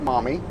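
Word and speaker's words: Maumee: a local brewery called mommy and it's m-a-u-m-e-e but it's pronounced mommy and uh man it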